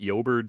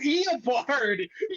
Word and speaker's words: Eobard: it was you that was how do you pronounce it? Uberd Stone, and What? and Stephen Cooper, Uberd. Oh, Eobard.